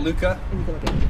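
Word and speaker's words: Luka: could you please tell us your name and spell it you know what but for the record Luca l-u-k-a so tell us um kind of your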